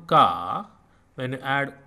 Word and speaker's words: क: And you pronounce Ka like CA in car. Car. Car, car, and like CA in calm, calm, calm.